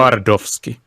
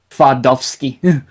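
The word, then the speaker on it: Twardowski: I'm trying to pronounce this name properly. Pantvardovsky. Pantvardovsky? Let me Tardovsky. do it this way. Tvardovsky. Yeah, Tvardovsky.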